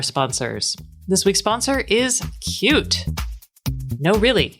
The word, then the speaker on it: Qt: you all are aware cute is spelled qt so find out more information